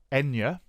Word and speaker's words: Enya: Now I know that the correct pronunciation of this word is Enya, and what I'm going to do is I'm going to add that as a rule.